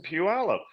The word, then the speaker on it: Puyallup: I think Sherman's been shopping for suits in Puyallup." And so I was just like, "What? You're not getting that in Puyallup." No, I know. I'm like, first off, you nailed the pronunciation. Al Michaels knew Puyallup.